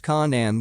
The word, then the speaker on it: Canaan: which eventually migrated to Canaan pronounced Kanan with the k sound of the serpents a